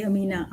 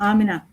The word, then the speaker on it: आमना: आमना मैं गलत प्रोनाउंस कर रही अमीना आमना जी आमना तो मैं रिहान एआई टीचर